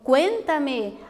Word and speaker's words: cuéntame: Então, olha lá, cuéntame. Veja que a sílaba tônica, que é a mais forte, ela está posicionada na antepenúltima sílaba, né?